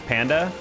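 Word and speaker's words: PNDH: Oh, PN DH is panda. I mean that's how he does that's how he says it.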